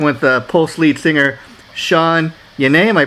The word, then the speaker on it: Sean Yeaney: to be speaking with the pulse lead singer sean yanay am i pronouncing the name right sean yanny okay and um so how you doing today